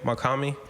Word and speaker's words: Mach-Hommy: for for uh do you know how to pronounce his name makami yeah i think it's good for him because